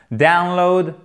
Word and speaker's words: download: plat de fait attention accents toniques ici sur la première syllabe et pour celui ci accent tonique sur la seconde fiable ce qui nous donne download applaudi dans ses dessous